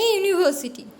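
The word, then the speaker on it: university: Heart, ए काफ, ए यूनिवर्सिटी. आप बोलोगे यूनिवर्सिटी, यू तो वावल है, बट इसका जो प्रोनाउंसिएशन है, यूनिवर्सिटी की प्रोनाउंसिएशन में यू का जो यूनिवर्सिटी जो प्रोनाउंसिएशन है, ये कॉन्सोनेंट की तरह होता है.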